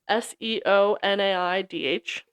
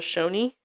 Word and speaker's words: Seonaidh: It's Seonaidh. The American name for it is the Shawnee.